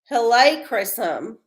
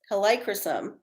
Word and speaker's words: Helichrysum: It's pronounced Helichrysum. Helichrysum.